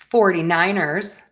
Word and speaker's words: 49ers: All right, NFC West time with the San Francisco 49ers. So we have San Francisco 49ers. San Francisco 49ers. So let's start with San Francisco. San Francisco. San Francisco. San Francisco. 49ers.